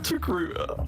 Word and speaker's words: Togruta: Togruta. So Gruta rhyming with Achuda works out great.